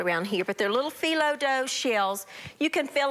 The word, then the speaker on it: phyllo: These are found in your freezer department of your grocery store, and they're little mini phyllo dough. P-H-Y-L-L-O is how you pronounce it.